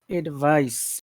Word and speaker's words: advice: word is a b so how will you pronounce number one so uh advice advice advice advice advice and how would you